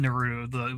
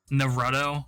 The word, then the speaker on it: Naruto: she said it wrong it wasn't naru though something like naruto the pokemans headband pokeman